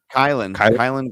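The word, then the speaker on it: Kylen: Kylan Granson.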